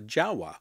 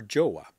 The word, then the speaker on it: Jowua: that i've come across called a jawa if i pronounce that correct or joa depending on how you want to pronounce it they are based in